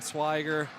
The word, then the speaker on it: Swiger: For the family of Tristan Swiger, thank you for the pronunciation correction. He was unfortunately a little bit too nice to tell me I was pronouncing his name wrong this whole time, but Tristan Swiger, he's had a great game as well.